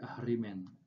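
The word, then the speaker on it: Ahriman: Tapi ketika dibaca menjadi Ahrimen. Ya, Ahrimen adalah Tuhan kegelapannya orang-orang Majusi ya, Ahrimen.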